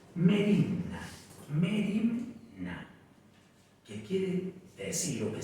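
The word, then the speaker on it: μέριμνα: que es el afán el afán en griego se pronuncia merienda que quiere decir lo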